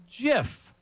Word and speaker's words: GIF: So, the creator of the format says it's pronounced GIF. Well, not everyone's well-rounded. You could be good at technology, but not good at pronouncing things. Soft G, but he invented it.